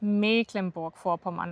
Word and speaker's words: Mecklenburg-Vorpommern: Aber das ist jetzt bei diesem Wort nicht der Fall, sondern hier ist wieder ein Dehnungsbuchstabe, nämlich das Dehnungs-C. Und deswegen wird es anscheinend Mecklenburg-Vorpommern ausgesprochen.